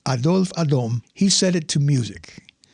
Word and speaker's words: Adolphe Adam: Now, later that same year, a fellow by the name of Adolphe Adam, I know it looks like Adolf Adam, but I'm pretty sure it should be pronounced Adolphe Adam, he set it to music.